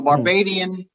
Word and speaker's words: Barbadian: So Barbadian is how you pronounce that.